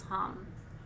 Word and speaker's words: ham: road chakra mantra is ham remember i told you it sounds like ham but it's not it's it's spelled h a m but it's hum and keep in mind